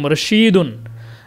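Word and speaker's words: رشيد: কি রশিদ বুঝতে পেরেছেন রশিদ যে নামটা থাকবে সেটার উচ্চারণ এরকম রশিদুন আর যেটা রাশেদ সেটা উচ্চারণ হবে কি রাশিদুন র এর পরে আলিফ থাকবে এই যে রাশিদুন একটা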